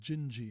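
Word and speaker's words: Dindi: net woman's name is jinji and it's spelled d-i-d-i and that apparently that is the portuguese pronunciation skies so vast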